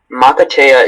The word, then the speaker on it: makatea: Makatea is the only pronunciation.